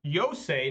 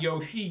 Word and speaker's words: Yosei: Yosei, not Yoshi, Yosei. I think that's how you say it.